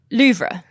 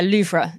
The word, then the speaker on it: Louvre: to Abu Dhabi love Louvre Louvre apologies me butchering the French will be listening going ah no but yeah luffra is my understanding of how to pronounce it no I think